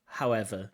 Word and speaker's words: however: Sometimes candidates from Uzbekistan and also speak Eastern Europe, sometimes they mix up their w and the v. Just listen to this pronunciation of however.